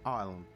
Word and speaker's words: island: The shuttle disappears in the wild vegetation of the island. It's such a random word uh written as Eastland. Yeah. And you pronounce as island.